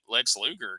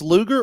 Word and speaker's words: Luger: But Now, but is this Lex Luger or Lex Luger? Because you remember on the Chiron, they promoted Lex Luger, and it was spelled like sugar with an L.